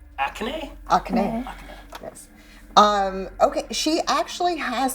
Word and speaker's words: Akane: Akane.